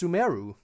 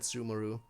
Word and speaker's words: Sumeru: in a second oh i guess it's sumeru ha i guess i've been pronouncing it wrong the entire time but i thought everyone said sumaru weird once i get